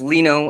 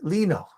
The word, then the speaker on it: Lino: just lino like uh it's pronounced lino as in if it was spelled l-e-n-o you know but the eyes sounds like an e-yes okay lino so so lino you're a patient at